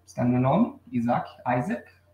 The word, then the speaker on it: Isaac: Então, nós temos aqui, it's under my name, está no meu nome, Isaac, pronunciado em inglês.